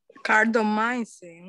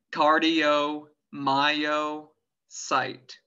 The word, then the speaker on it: cardiomyocyte: ¿Y en inglés cómo se pronuncia cardiomiocito? Cardiomyocin, una cosa por ahí, bro. Cardio, es difícil. Cardiomyocyte.